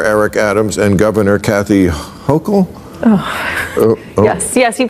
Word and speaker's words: Hochul: What do you New Yorkers think of how Mayor Eric Adams and Governor Kathy Hochul? Yes, you pronounced it right.